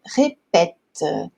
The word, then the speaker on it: répète: Répéter, e quando a gente pronuncia o verbo conjugado, ele fica je répète, je répète. Então, o acento aqui ele é contrário. Gente, é assim mesmo, tá? Então fica esquisito, tem que trocar o acento, mas conforme a gente